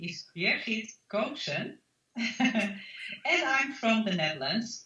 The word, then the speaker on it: Birgit Koopsen: Let me then pronounce my name right for everybody to hear. So my name is Birgit Koopsen.